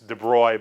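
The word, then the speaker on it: de Broglie: but it's it's it's I'm told that that it's debroy but there's sort of a gar glee thing with the way that you have to be French to do right so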